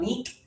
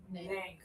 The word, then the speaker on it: Nick: My name is? Nick. Good job. I'm proud of you guys. Yeah. A lot of students for months and years call me Neek. Hi, Neek. And hi. That's not really how to pronounce my name. It is low tongue and breathe out, Nick.